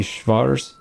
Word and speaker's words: Schwarzholz: Schwarzholz. Pardon my American pronunciation. It's supposed to be Schwarzholz, something like that.